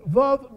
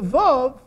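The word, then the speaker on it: וָו: You know how they pronounce the vav? W, not v.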